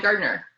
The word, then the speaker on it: Gardiner: it's gardner yeah i would probably drop the eye as well yeah that's just what i do it's very rarely that you hear the eye unless you're saying my name really slowly yeah well i mean